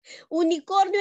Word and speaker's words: unicorn: sonido es con vocal unicornio en inglés no se dice unicornio se dice unicorn y el sonido es una consonante no una vocal por eso dice el